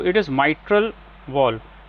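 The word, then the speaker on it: mitral: तो इट इज माइट्रल the pronunciation pronunciation पे ध्यान दीजिए।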